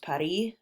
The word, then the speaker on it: Paris: places located in Paris it's pronounced Patti and French and you can see